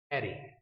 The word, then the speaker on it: array: एरे बोलते हैं इसको, अरे भी बोल देते हैं कुछ लोग। Can pronounce it वे you want, but इट्स नॉट द अरे भाई क्या हाल है।